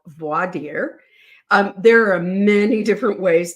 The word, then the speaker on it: voir dire: That's the way I learned to pronounce it. V-O-I-R. The French pronunciation would be voir. The Latin pronunciation would be voir. And D-I-R-E, dear. Some people, Judge Boyce pronounces it voir dire. And I think that's a very typical sort of Middle West and Southern way of pronouncing it.